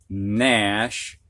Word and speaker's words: gnash: Previously, the H was silent, but now we've got GN at the beginning of a word, and the G is silent. Gnaw, gnarl, gnat, gnash, new.